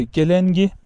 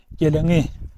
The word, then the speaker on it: gelengi: Literatürdeki adı gelengi. Bizim İç Anadolu'da geleni diye telaffuz ediliyor arkadaşlar.